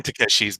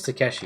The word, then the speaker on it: Takeshi: think I think it's Takeshi like no Japanese were just supposed to pronounce each one separately so it's Takashi right yeah Takeshi Takeshi there's matter I'm